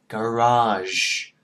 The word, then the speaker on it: garage: Chừng bạn ra được cái tiếng r được rồi đó thì mình tập nói garage, garage, barrage, conversion.